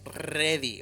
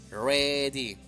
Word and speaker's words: ready: ready listo ready listo Recuerda la r no es ready Okay ready suave ready muy bien y seguimos